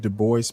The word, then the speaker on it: Du Bois: And he pronounced it Du Bois, by the way.